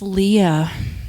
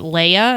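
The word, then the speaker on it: Leah: McGill Rojas mm-hmm what's Jordan's middle name it's Lea Lea Lea yeah for you know a long time people would pronounce it Leia and I'm like no no it's Lea l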